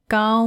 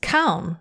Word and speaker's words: ခေါင်း: Gao mu de. Gao mu de. You can see that word for head again, gao. You'd expect it to perhaps be pronounced kaun, wouldn't you, with the ka kwe there, but